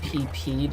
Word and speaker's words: Peep: boss oh God it's peep I hate Peep and I refuse to pronounce the name like it's supposed to be pronounced because screw that apparently his name is actually PP despite being spelled p e p since he's